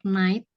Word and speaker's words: night: pengucapan atau pronunciation untuk night. Night Night. sama Oh, iya. apa tadi satu lagi ya? played. Bukan. Ada GH juga. Jadi GH-nya itu nggak bisa, nggak dibaca ya. Night.